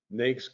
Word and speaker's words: NAICS: And NAICS is how it's pronounced.